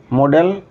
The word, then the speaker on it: modal: Model, the pronunciation is actually model. modal verb.